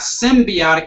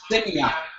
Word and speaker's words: semiotic: Well, you're thinking about symbiotic as opposed to semiotic. Oh, semiotic. Semiotic, not symbiotic.